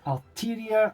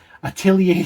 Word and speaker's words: Atelier: It is Alteria, I can never say it properly, Atelier Sophie 2, The Alchemist of the Mysterious Dream.